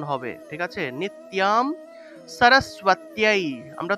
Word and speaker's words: সরস্বতী: এভাবে আমি এখানে লিখে দিই, উচ্চারণ হবে স র স্বতী, দন্তের স নিচে বফলা থাকায় সু উচ্চারণ হবে সরস্বতী, এইভাবে সরস্বতী উচ্চারণ।